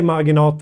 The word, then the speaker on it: Marginata: marinot or margin Margot I don't know how to pronounce it in English but we say marinot here in Sweden uh it's also extremely